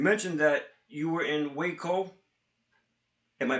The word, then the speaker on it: Waco: second because you mentioned that you were in Waco. Am I pronouncing that correctly?